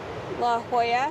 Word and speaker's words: La Jolla: We just followed Google Maps to where it said La Jolla.